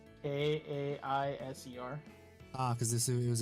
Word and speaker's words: Caesar: cuz fun fact he that's how Caesar is supposed to be pronounced as Kaiser ah now you know